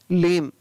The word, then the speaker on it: limb: LIMB, लिम, क्या पढ़ेंगे इसको, लिम, LIMB, लिम।